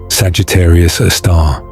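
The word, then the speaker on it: Sagittarius A*: Often pronounced Sagittarius a star.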